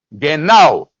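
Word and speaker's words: γεννάω: nacido la palabra ahí en griego es geno se escribe g g e n n a o geno Eso significa engendrado y también significa nacido los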